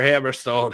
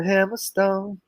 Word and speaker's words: Hammerstone: his name is alexander hammerstein you gotta say it right his name is alexander hammerstone so uh oh